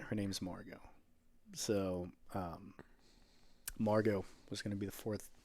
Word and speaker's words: Margot: yeah are you margot or margot are you mark got hill or got hill that's how it's spelled m-a-r-g-o-t but it's pronounced margot if if if i'm